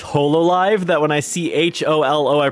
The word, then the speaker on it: Hololive: Jill is lost in thought about a holo planet.